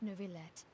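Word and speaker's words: Neuvillette: have the absolutely just an honorable chief justice nuvilette niblet okay we finally heard how to pronounce his name as well as the oratories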